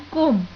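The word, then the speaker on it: comb: जैसे कि example, knife and कोम। Knife में के साइलेंट है और कोम में बी साइलेंट है।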